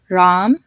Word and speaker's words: Ram: first way is an a sound like in the word art or car a so for example there's the name Ram which is very popular in India you have Ram a car a art a they have the same a sound another example is Khan